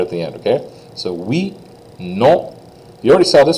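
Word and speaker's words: oui: to know like we we almost sounds like the number eight doesn't it but not saying the T at all so we is yes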